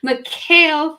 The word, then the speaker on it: Mechiel: PMPro team, and I'm going to try to pronounce it the way it's supposed to be, Mecheil from Paystack.